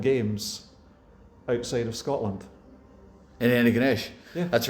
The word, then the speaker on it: Antigonish: And so you're now in a place called, I'm going to get the pronunciations, is it Antigonish? Antigonish, yeah. Antigonish.